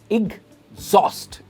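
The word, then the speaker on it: exhaust: गलत है, इसकी सही प्रोनाउंसिएशन है एग्जॉस्ट, एग्जॉस्ट। और जो स्ट्रेस है वो लेटर पार्ट पे है। इट इज नॉट एग, इट इज इग, एग्जॉस्ट, एग्जॉस्ट।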